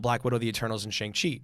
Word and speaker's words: Shang-Chi: Yeah, Shang-Chi.